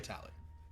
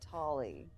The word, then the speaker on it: Tali: Is it Tali or Tally? Either. Okay. I use the long A, Tali. It depends on accent. I would say myself is Tali, but Tali is how many I people like your pronounce dialect.